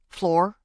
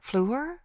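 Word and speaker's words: Fleur: Floor. It's pronounced flu, French for flower.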